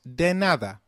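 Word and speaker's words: de nada: graas and lastly your welcome is said as denada great it's now time for our culture leap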